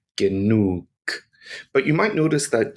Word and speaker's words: genug: But in German, the pronunciation of G is always hard. That means it always makes a G sound. G, G, G. The word for enough in German is genug.